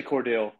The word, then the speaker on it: Cordele: pronounce where you're from is it Cordell or Cordele Georgia uh I say Cordell so is that is